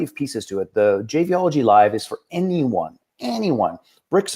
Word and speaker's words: JBology: And then it came out as like, wait a second, that's JBology. So that's what the twist is. If you ever want to how to pronounce it, think mixology, but JBology.